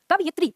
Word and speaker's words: कवयित्री: मात्रा आ रही है, तो हमारा उच्चारण वैसे ही है, कवयित्री।